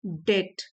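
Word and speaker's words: debt: डेप्ट B silent है।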